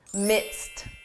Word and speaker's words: midst: This is a tricky one simply because of pronunciation. When you hear this in spoken English, I'm in the midst of a big project. It's easy to confuse this with mist.